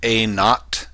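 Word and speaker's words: A₀: time this is pronounced a notot in other words a subscript Z is pronounced a not and that's your population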